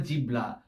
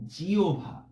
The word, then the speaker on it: জিহ্বা: না, জিও বা না, অবশ্যই এখানে ভ উচ্চারণ করতে হবে। আমরা আগেই বলেছি হ এবং ব যদি যুক্তাক্ষরে থাকে, তাহলে আমাদের অবশ্যই সবসময় হয় বটা ও ভতে রূপান্তর করে নিতে হবে।